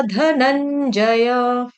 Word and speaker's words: धनंजय: उसके बाद वर, वर के ऊपर जो अनुस्वार यानी कि बिंदी, उसका उच्चारण ङ की तरह होगा। क्यों? क्योंकि आगे आ रहा क क ख घ ग ङ है ना, इसलिए यहां पर आ गया बुद्धि योगा धनंजय।